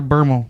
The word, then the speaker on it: Bermel: Is it Bermel or Bermel? Bermel. Bermel. I wouldn't have corrected you, but it rhymes with thermal underwear.